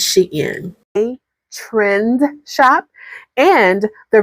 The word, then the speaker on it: Shein: It is not Shein, it's Shein.